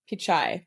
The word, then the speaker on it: Pichai: up and I have not known how to pronounce it so it's time I'm gonna look it up uh Sundar picai there we go um super interesting uh you